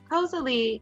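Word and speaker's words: koselig: spell it posely and this is how you say it lee cosali is more or less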